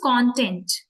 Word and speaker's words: content: is content uh spelling spelling remains same but the meaning changes with the pronunciation content happy content which